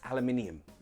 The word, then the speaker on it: aluminium: aluminium they say aluminium both ways are fine American English says aluminium British English aluminium both are correct the only difference is if you want to speak with American English say aluminum if you want to speak with British English its aluminium notice also the spelling